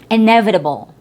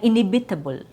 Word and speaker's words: inevitable: So in inevitable n is stressed not inhibitable.